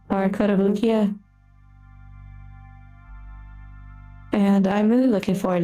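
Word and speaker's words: Kotobukiya: However, we do have some other models we're going to be building in the future from I believe it's pronounced Cottobukia or Kotabukia and I'm really looking forward to those models.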